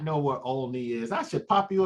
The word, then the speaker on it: Olney: Where do I not know where Olney is? I should pop you upside your head. Of course I know where Olney is. Some people are like, is it Olney or is it Olney? It's Olney, man.